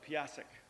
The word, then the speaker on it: Piasek: Next, we have a presentation from Coastal RTA by our good buddy, Mr. Piasek. Did I pronounce that right? Close, Piasek.